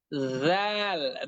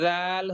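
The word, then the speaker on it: ذ: আহ জাল অক্ষরটির উচ্চারণ হবে অনেকটা, অনেকটা বলতে একই রকমই হবে। সা, এর আগে আমরা সা অক্ষরটি যেভাবে উচ্চারণ করেছি, আমাদেরকে জাল অক্ষরটিও সেভাবেই উচ্চারণ করতে হবে।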